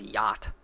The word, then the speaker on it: yacht: of my favorites is yacht that is a good one so many letters and none of them are pronounced it's just y-a-d if it was yatched i would understand but it's y-a-t basically yeah the rich